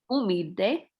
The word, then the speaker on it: humilde: El padre es católico, es y muy humilde. Can you pronounce that? Humilde. Humilde. Remember the H is silent, so pretend like it's not there.